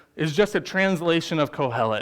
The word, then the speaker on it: Qohelet: The Hebrew word here is kohelet. If you want to know how to spell that for your notes, it's Qohelet.